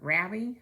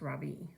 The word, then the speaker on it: Ravi: ravi how do you like einstein so far ravi asked dylan actually it's pronounced robbie i say today has been my best day